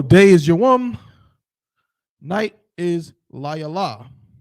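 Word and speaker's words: לַיְלָה: you know the pronunciation, that ha at the end tells you that no matter how you see it, it's going to be pronounced la yala.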